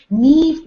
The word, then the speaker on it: Niamh: me tell you but niamh uh sorry i always say the way i i it's spelled leave arthur lovely lovely lady neve was absolutely over the